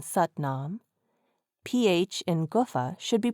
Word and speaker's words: Satnam: There is no A after Sat in Satnam.